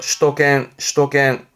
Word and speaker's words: 首都圏: 슈도겐.